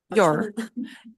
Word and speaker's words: you're: You are vira your. É. É, aqui tem algumas variações, né? Your ou your ou a forma fraca, your, que a gente não